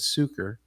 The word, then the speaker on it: Sucher: But the correct pronunciation, Michael, is Suker.